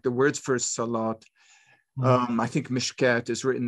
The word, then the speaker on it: salat: They're all written with a wow. But they're pronounced with basically an aleph. And I think your argument is, no, they've been pronounced incorrectly. Of course, a believer might have other ways theologically of working through it. But I mean, in terms of the primitive phonology of the text, they in the Hijaz, they would have been pronounced something like solot or hayot.